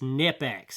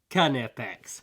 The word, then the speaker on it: Knipex: to somebody that just doesn't know how to pronounce canipex it's nip x and everybody knows it's nip x no they don't it's pronounced cun fx okay so that's salt anyway just kind of